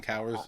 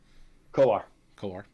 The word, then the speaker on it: Kowar: Jackson Cowers, so far the best of all of them. Kowar.